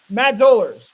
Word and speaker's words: Zollers: Matt Zollers, rhymes with dollars.